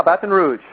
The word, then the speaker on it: Baton Rouge: You're in Baton Rouge. Did I pronounce that right? Yeah. Baton Rouge.